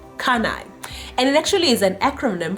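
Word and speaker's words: CANI: spelt a CA and I okay and it's pronounced kunai and literally is an acronym for the world's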